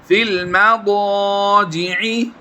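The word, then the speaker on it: فِي الْمَضَاجِعِ: वहजुरूहुन्न जुरूहुन्न जुरूहुन्न फिल फ़ा को इस लाम के साथ मिलाएंगे, ये या जो है और ये अलिफ, ये दोनों साइलेंट होंगे। फ़ा लाम ज़ेर फिल फिल मदाजि'i फिल मदाजि'i दा नहीं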